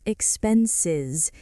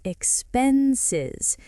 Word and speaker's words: expenses: This one trips people up because of the ending. It's not expenses, it's expenses. The S in the middle sounds like a Z.